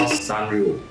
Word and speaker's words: Sanrio: Bandai collaborated with this brand, which till now I have difficulty pronouncing the name. It should be called Sanrio.